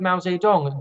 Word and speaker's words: Mao Zedong: military genius Mao Zedong I know I'm not pronouncing that correctly for some people we want to put that out there but that is the way that's the English pronounces in the words of